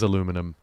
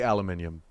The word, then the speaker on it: aluminium: You're right, it is aluminum. There's the trouble with the written word, isn't it? No, look, it's very clearly aluminium.